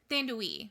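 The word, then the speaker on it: Thandiwe: Thandui. Yeah, Thandui Newton.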